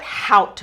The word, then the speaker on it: howt: breathing we call it howt breathing put an h in front of the word out and that's howt we do that so that you pronounce the h and the t that slows down your